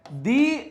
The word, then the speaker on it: the: Pronunciation की बात चल रही है यहां पर कि दा लगेगा जहां पर कॉन्सोनेंट्स लगते हैं और दी बोलते हैं जहां पर वॉवल्स होते हैं।